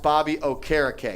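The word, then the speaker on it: Bobby Okereke: that's fair that's fair by the way it's pronounced Bobby o'cara Kay yup I heard him say it on an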